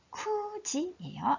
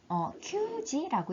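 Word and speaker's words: 九時: 쿠지예요. 9시 쿠지. 자, 큐지라고 읽지 않고 쿠지라고 읽는 거 기억해 주시고 9월도 마찬가지 큐가츠가 아니고 쿠가츠.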